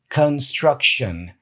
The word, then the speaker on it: construction: to stop saying uh construction and start saying Construction so the K becomes a k and the